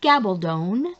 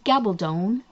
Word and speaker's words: Gabaldon: yes her name is gabaldon it rhymes with stone so um if you need to you can go ahead and google how to pronounce diana gabaldon because it is gabaldon rhymes with stone so